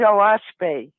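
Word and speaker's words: Oahspe: a s p and it's actually three syllables which stands for Earth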